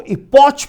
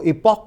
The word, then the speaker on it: epoch: और फाई नॉट को हम लोग EPOCH, कुछ लोग इसको इपॉच बोलते हैं, कुछ लोग इसको इपॉक बोलते हैं, बट स्पेलिंग EPCOH.